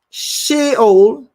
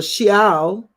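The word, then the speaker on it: Sheol: Shh I'm late I'm gonna give you the proper pronunciation she old or she al was following with him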